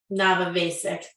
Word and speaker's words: Navavasic: escrow back to this Amanda Navavasic. That's how her name is pronounced.